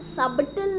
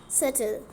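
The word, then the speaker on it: subtle: तो इसमें ना साइलेंट होता है, इसे हम लोग सबटल नहीं कहते हैं, इसे कहते हैं हम सटल. सो B word is silent.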